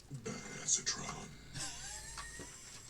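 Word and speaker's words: Badassatron: Actually, it's pronounced badassetron in case you were wondering. Badassetron.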